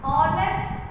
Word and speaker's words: honest: Now our honest, honest we pronounce O.